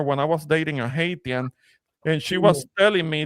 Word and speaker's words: Haitian: Say Haitian, Ramon. Haitian. That's how I say it. SH. Put an SH there. Haitiana.